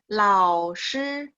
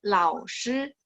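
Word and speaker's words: 老师: 老 nada 3, 师 nada 1. Boleh sekali lagi? 老师. 老师. Coba sekali lagi. 老师. 师, jadi nada 1 itu ditarik agak panjang.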